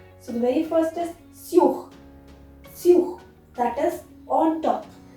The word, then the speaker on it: sur: Many people have a misconception that sous or sur is similar or it is pronounced similarly, but no, mind it, it's sur, sur, and it is sous, sous.